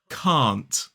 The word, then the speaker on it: can't: Again, it's got a long vowel sound. The polite word has got a long vowel sound. It's the negative of can. Can't. K-a-n-t. Can't. So make sure to hold that vowel sound. It's the same vowel sound we see in the word car or far.